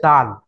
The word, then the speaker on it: দাল: দাল আ বলে টান দিতে হবে।